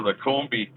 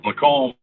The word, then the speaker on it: Lacombe: So it must be somewhere really close to here, right near Lacombe, as I call it. but it's actually pronounced Lacombe. Lacombe. Must be like a French word or something, a French name.